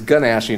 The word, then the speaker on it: gnashing: It's gnashing of teeth.